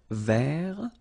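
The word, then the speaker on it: vert: rou remember rou so masculine form don't pronounce the final T ver feminine form ver so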